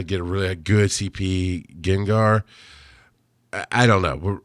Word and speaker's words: Gengar: I can't how I see I know it's pronounced gengar but I see it as Jen gar sometimes so my first Gengar that I caught